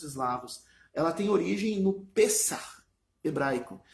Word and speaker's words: Pessach: Ela tem origem no Pessach hebraico. Se escreve P-E-S-A-C-H e se lê Pessach, né? Faz um com o CH se faz um no final. Pessach.